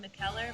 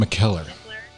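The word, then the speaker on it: Mikkeller: Sometimes some people call it McKellar, but it's McKellar.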